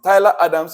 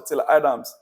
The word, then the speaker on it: Tyler Adams: banamot here we go Adams or Tyler Adams it depends on how you want to pronounce it Tyler Adams or Taylor Adams Chelsea showed interest in